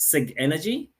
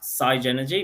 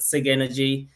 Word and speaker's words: Sigenergy: called the saen store the company name is pronounced Sig energy if you ask our German friends or european friends they might say sa energy but anyway in Australia New Zealand we'll call it Sig energy the product itself is called saen store it's